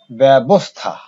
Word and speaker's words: ব্যবস্থা: শব্দের প্রথমে যদি জ ফলা থাকে, এখানে আমি সংক্ষেপে লিখেছি, যদি শব্দের প্রথমে জ ফলা থাকে, তাহলে দেখা যায় সেটা এ রূপে উচ্চারিত হয়।